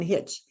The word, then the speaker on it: hitch: it's the last sound the t is silent the T protects the short vowel sound in hitch and the student knew